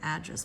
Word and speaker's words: address: That is a noun. The first syllable, address, address. And the verb is address. I'd like to address the situation. That's a verb, therefore it is second syllable stress.